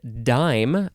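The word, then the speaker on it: disme: the next word is the word dime but this one is spelled d-i-s-m-e uh let's see yes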